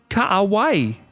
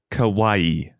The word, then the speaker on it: kawaii: You're not saying it right. Kawai yata. It's three syllables. Kawawai.